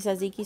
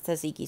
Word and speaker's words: tzatziki: And actually, they call it gyro sauce, which really helps because you try to pronounce tzatziki sauce. If you're ever looking for it, it begins with a T and then a Z.